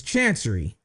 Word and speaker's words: Chancery: So, I did look up on how to pronounce this. It's Chancery, okay?